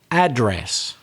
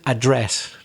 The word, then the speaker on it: address: the whole episode is if it's a noun stress the first syllable and that's exactly what they do in american english address but in british english